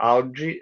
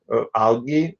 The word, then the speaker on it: algae: So larva, larvae, alga, algae, or algae, alga, algae, algae. Yeah, depends on different people pronounce it differently.